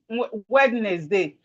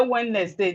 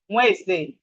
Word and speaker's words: Wednesday: Please, it is not Wednesday. Some of us say Wednesday. The proper pronunciation is Wednesday. Wednesday. The D is silent.